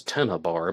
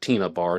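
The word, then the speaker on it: Tena Bar: She is first referring to it as Tennabar, but everybody calls it Tina Bar, no matter which way it's spelled.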